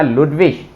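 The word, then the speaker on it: Ludwig: हाँ, आई जी आ जाए तो उस वहां पे साउंड निकलेगा इश, जैसे कि ये होनिश, ये बना क्यूनिश, ये बना लुडविश, ये बना उलरिश।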